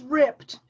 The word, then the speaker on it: ripped: A seam is ripped. Ripped. We say that in one syllable, even though it doesn't look like it should be.